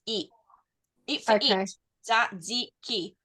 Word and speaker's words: tzatziki: as well it's the you know how you have the um the short pronun iation of letters and the long pronunciation of letters so it's and e not e it's e z ziki okay yep and it's